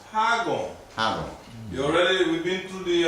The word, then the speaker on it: Hagoun: If I omit this, then you have to pronounce Hagoun.